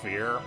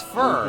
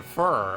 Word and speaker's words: Fir: fear that's impressed how that's how cute actually pronounce her name fear oh no it's fur I I think she says it in her spring all fur that's her name fur okay um yeah not if you are it's